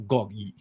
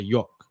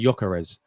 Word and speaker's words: Gyokeres: It's not Gok. You don't pronounce the G, do you? You just say Yok. Like you pronounce, it's a silent G, no? You just say Gyokeres because he plays in the piss league.